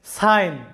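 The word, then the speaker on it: sign: হয়েছে আই এরকম কিন্তু জি এর কোনো উচ্চারণ এখানে হয়নি এস আই জি এন সাইন আমাদের উচ্চারণটা আসবে সাইন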